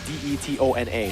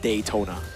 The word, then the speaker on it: Detona: and it's it's like it's spelled d e t o n a so it's detona it's not daytona detona detona